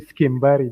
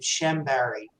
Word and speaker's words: Chambari: can quickly introduce yourself well actually you are correct you're pronouncing it correct but here in the states we uh pronounced my last name chamberry uh but very excited